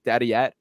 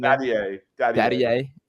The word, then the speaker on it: Dadiet: Isaiah Collier, Yves Missy, Pacoma Dadiet is, I believe, how you say his name. Dadiet.